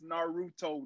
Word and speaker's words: Naruto: It's Naruto, not this, not that. Say it right.